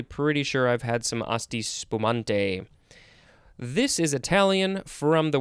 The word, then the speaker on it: Asti spumante: Looks like it has some other possible pronunciations. Asti spumanti, asti, various things.